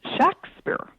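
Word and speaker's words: Shakspere: documents of the period the name was pronounced shakspeare um with a short a it was rarely spelled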